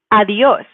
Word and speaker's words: adiós: So here we have an accent mark. So that's why we know, again, if we were following the rule, we should probably stress the E the second to last vowel, but we actually should stress the O. So that's why we need to put an accent mark to indicate that we're breaking the normal pattern, breaking the rule.